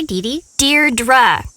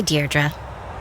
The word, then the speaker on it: Deirdre: in it or something hi Dei dear dra I know it's got that tricky second syllable but I figured it out by age two don't give up you'll get there sorry hi dearra hey now someone's getting